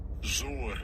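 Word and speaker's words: זור: I don't like those, let's get the pronunciation of it. Then I'm going to go to the Google of this word is strange. Strong's H2114. Zur. Zur, okay? That's the word zur.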